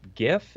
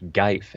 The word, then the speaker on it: GIF: It's a GIF. And Scarlet, yeah, it's not pronounced GIF. It's not pronounced GIF. It's pronounced Geif, everybody.